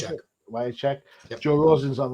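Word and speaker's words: Wiacek: Is that how you Wyatt pronounce check. it? Wycheck.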